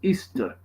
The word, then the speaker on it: Ishtar: samarimis became known as ishtar which is pronounced easter and her moon egg